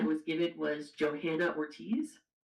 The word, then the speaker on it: Johanna: Usually in Spanish the H is silent, but it's been known to say it would it would be Joanna, but Johanna and I think it's still acceptable, right?